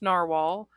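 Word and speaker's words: Nahvalur: called novalour but yeah which they say is pronounced narwhal but when I bought it they were called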